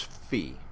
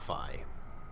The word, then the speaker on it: phi: down through it is fee not not phi this is c not psi this is fee not phi phi and it's probably